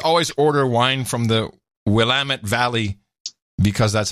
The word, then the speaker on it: Willamette: up right just always order wine from the Willamette Valley because that's how you pronounce it lamb it yep well am it